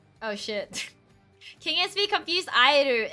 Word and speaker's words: Aeru: It's pronounced Airu.